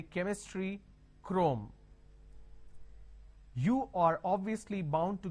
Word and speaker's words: Chrome: Now here, this is CHROME. Can I say Chrome, like Google Chrome? No. The pronunciation is Google Chrome.